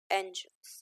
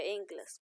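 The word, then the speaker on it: Engels: Spelling होगी इसकी Friedrich नहीं है ये, फ्रेडरिक ये आएगा यहाँ पे, और एंजल्स या एंगल्स बोल सकते हो, तो हिंदी में होगा ऐसे, फ्रेडरिक एंगल्स।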